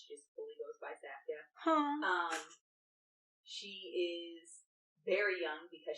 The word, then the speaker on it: Safiya: Safiya. Emphasis on the first syllable.